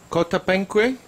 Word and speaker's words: Coatepeque: So, Lego Kotapenu Kotapenu. Lego Kotapenu. Okay, just getting the pronunciation right.